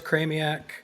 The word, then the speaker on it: Chramiec: I'm talking to Pete kramiak am I pronouncing that right it's pretty close craniac craniac similar to Maniac craniacally similar yeah so